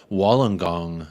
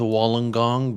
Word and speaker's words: Wollongong: I believe it is I'm probably pronouncing it wrong someone did leave a comment one of the beautiful new um Australian supporters of United Spirits of America they they did correct me on the pronunciation to Wollongong but you know just